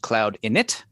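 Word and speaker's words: cloud-init: to State for the record that it is pronounced cloud in it and not cloud in it management regrets well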